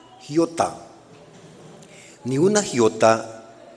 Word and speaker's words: iota: en el griego es ni una iota la palabra más pequeña del alfabeto griego se pronuncia giota ni una giota o